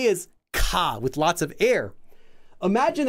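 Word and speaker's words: ㄱ: And it is not a G and it's not a K. So, ka. What letter does it sound like? It actually sounds like a K. It doesn't sound like a G ever. It's not ga, because G in English, we have that g sound we add.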